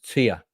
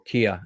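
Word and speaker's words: Kea: And it was on a church on top of a mountain in the island of Tia, or Kia as it's spelt phonetically.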